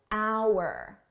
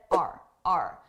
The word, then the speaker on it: our: failures were writ large notice hour I did not pronounce this as hour I said r r a very reduced sound R our successes our